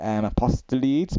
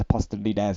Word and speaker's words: Apostolides: I used to pronounce it Apostolides, but I think it's pronounced Apostolides, I believe.